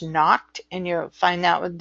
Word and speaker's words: Nocte: It's Nocte, pronounced knocked, and you'll find that with dosages.